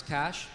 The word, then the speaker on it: Cache: You know, I thought people would mispronounce Cash, but maybe not in that way.